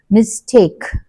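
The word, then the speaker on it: mistake: ముందు మనకి స్ట్రెస్ పడుతుంది మిస్టేక్ టేక్ మీద పడుతుంది యు షుడ్ పుట్ ఇట్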